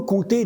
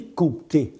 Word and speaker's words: compter: siècle, en ancien français, on disait compter avec un P qui se prononçait bien. À la fin du Moyen Âge, aux alentours du 15e siècle, le français a simplifié la prononciation de certaines consonnes dites implosives, celles qui se trouvaient au milieu des mots, surtout entre deux autres consonnes. Ainsi, le P de compter s'est fait discret jusqu'à disparaître à l'oral.